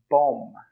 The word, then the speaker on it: bomb: Bomb, bomb, b-om. The B is silent.